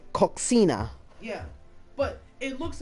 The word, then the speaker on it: coxinha: food is delicious here it says Kachinas or it's spelled with an X yeah yeah it looks like if we were to say it in English if we were to pronounce all the letters in the word it looks like coxinha yeah but it looks